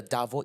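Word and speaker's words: DARVO: you know about the davo effect I've heard about it but tell us more right so davo is spelled it's an acronym it's spelled D a r v o and I find this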